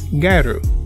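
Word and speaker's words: ギャル: First, gal in Japanese is pronounced garu, and garu in general refers to a type of Japanese fashion usually worn by women.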